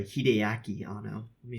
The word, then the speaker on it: Hideaki: it's it's some good-ass hideki ah no I'm sorry Hideaki on oh let me